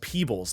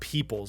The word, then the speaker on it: Peebles: And it's Peebles, not Peoples, so got to get the pronunciation right on this one.